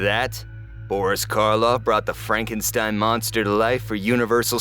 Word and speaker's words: Frankenstein: the real monster Dr Frankenstein or Frankenstein it's pronounced Frankenstein yes the titles do refer to the doctor